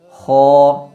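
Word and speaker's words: خ: yang tebal khu jadi tidak dibaca Ak tapi mesti dibaca dengan vokal o Kho sifat huruf k yang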